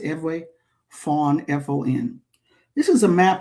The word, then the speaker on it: Fon: The Ewe or Fawn language, EWE, pronounced Ewe, Fawn, F-O-N.